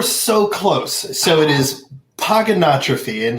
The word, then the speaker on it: Pogonotrophy: close so it is pogonotrophy and the easiest way to nail it every time is pogo no trophy pogo it's kind of like a hippopotamus it's hip hop a thomas that's how he